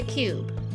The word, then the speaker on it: cube: The letter E didn't make a sound, but the letter E is still very important.